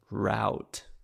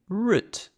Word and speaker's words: route: Route, or as Americans say it, route. Route. They say with a slightly different pronunciation, but we would say route.